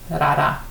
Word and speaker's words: Rara: Rara, it's pronounced Rara, which is in West Nepal, Midwest Nepal, in the Midwestern region.